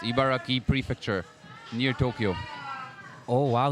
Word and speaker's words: Ibaraki: what's it called ibaraki ibaraki ibaraki ibaraki it's pronounced ibaraki prefecture near Tokyo oh wow he's not using